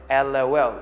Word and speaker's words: LOL: Well, this basically or simply happens because some people prefer to pronounce this abbreviation as separate letters, one letter at a time, LOL, and some people say LOL.